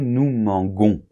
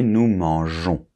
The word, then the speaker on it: mangeons: qu'est-ce qui se passe on on doit absolument insérer un e la lettre E entre le G et la terminaison on s parce que sinon ça ferait nous mangons d'accord donc pour que la prononciation soit régulière ok nous devons insérer cette lettre E donc ça fait nous mangeons ok après vous mangez il